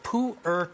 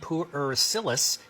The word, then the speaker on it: Pu'er: How do you pronounce this? This is called pu'er tea.